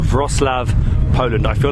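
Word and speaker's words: Wrocław: frostlav poland i feel like my pronunciation is getting there that is so noisy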